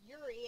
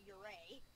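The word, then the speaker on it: Yurei: even or as i have been corrected it's pronounced yuri and not uray we either need spirit box or orb so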